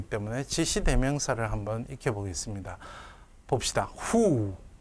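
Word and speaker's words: הוּא: 후. 요 알렙은 묵음입니다.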